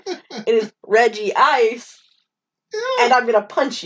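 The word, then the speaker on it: Regice: fragile move on uh absolutely not it is reggie ice and i'm going to punch you it could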